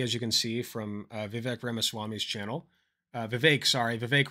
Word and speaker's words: Vivek: special guest known as Vivek, open quotation, rhymes with cake, close quotation, Ramaswamy, who I believe, has he dropped out officially?